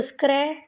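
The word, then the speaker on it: scratch: Square और ए की ए से ए की मात्रा चढ़ती है तो स्क्रै और टी सी एच लास्ट में है तो टी साइलेंट और च तो स्क्रैच च स्क्रैच स्क्रैच मतलब खरोच होती है।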